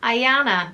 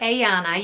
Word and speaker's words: Ayana: and it's the name Ayane or Ayane. You can pronounce it either with the I or the A sound at the beginning, so Ayane or Ayane, but it is spelled A-Y-A-N-A.